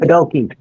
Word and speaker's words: Podolke: I might have to check with you, Musho, about pronouncing Podulke? Podulke? Pretty Pretty good. close? Yeah. Pretty good. Podolke, Podolke.